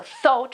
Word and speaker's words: thought: In the first case you have th, so thought.